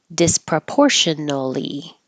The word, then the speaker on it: disproportionately: Disproportionately, or disproportionately. Tiny little differences, saying the T and stopping the airflow, or not having the T and not stopping the airflow.